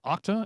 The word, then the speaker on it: OCTA: various parts of this yes it's called OCTA and yes it's an acronym you should pronounce like a word it's short for octahedron